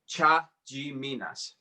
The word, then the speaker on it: Chatziminas: So it's Chatziminas. Chatziminas. Chatziminas.